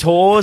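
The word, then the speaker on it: Hause: So, Okay, so Is it Hawes or is it House? The no, alternative- it is Hawes. It is, It yeah, is, but it like is if Hawes.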